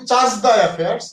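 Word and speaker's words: chargé d'affaires: সিডিএ এটার full form হলো, আমরা বলি চার্জ দ্য অ্যাফেয়ার্স, বিষয়টা আসলে বলতেই পারেন চার্জ দ্য অ্যাফেয়ার্স অনেকেই বলে, কিন্তু মূল যদি আপনি এটা ফ্রেঞ্চ শব্দ যেটু চার্জে দ্য অ্যাফেয়ার্স, যারা ফ্রেঞ্চ পড়েছেন বা আইআর এর স্টুডেন্ট বা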